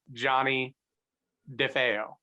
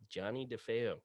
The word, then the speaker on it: Johnny Defeo: name for us sure my name pronounced correctly is johnny defeo johnny defeo and um johnny and